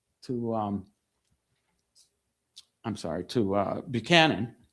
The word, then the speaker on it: Buchanan: She writes to to um I'm sorry, to uh Buchanan or Buchanan as he is apparent apparently he pronounced it.